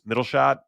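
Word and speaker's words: Mittelstand: Germany had, I think it's Mittelstadt, somewhere around that pronunciation.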